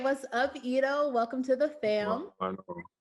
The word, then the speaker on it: Edo: pronounce it that way but my name is so it kind of like goes into like uh edo so yeah it's okay